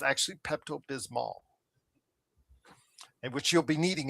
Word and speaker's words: Pepto-Bismol: You know, for a while, for many years, Joe, I did know that uh Pepto-Bismol is how it's it's actually spelled and supposed to be pronounced.